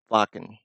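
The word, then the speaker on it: Wacken: Vakin.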